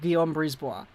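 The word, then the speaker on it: Guillaume Brisebois: you pronounce guillaume brisbois you pronounce guillaume brisball like diom brisboa i used to say it was like jion but it's not that it's a guild predictions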